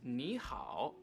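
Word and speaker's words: 你好: in chinese hello is nihao but since we have two characters here that both have the v tone the first character is going to be pronounced with the second tone or the rising tone this just makes it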